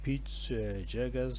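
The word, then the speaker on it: Peutz-Jeghers: poly polyposis syndrome and what we call the peach jaggers syndrome that is spelled as p e u t z hyphen j e g h e r s syndrome and even familiar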